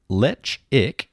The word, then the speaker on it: Ledaig: Pronounced lechic. Oh, lechic.